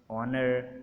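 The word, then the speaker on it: honour: एच इज़ not pronounced at the beginning of many words. शुरू में बहुत सारे जो अल्फाज हैं जिनके शुरू में एच आता है उनमें एच प्रोनाउंस नहीं होता।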